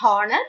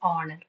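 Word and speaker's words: honour: It is not honor, it is honor. We have a set of words like this. Only four or five words like this that starts with H. But H is considered to be silent.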